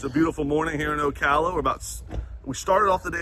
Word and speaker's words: Ocala: Wow, we're coming out here from the 2025 RV show in Ocala, Florida.